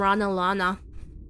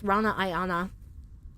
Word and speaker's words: Ranaianna: People still think I'm Rana Lana. The fuck? You motherfuckers can't read. It's Rana Ayana.